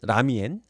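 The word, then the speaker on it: 拉麵: 라멘은 한자로는 랍면, 중국식 발음은 라미엔, 당길랍 면자에서 그렇게 해서 이름이 나왔다.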